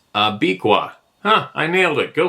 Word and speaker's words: Abiqua: Pronounced Abiqua.